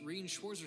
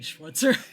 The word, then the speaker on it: Schwarzer: to hello this is schwarzer speaking this is killing me because that's supposed to definitely be schwarzer yeah again they they know the syllables but not how they work I hear she's German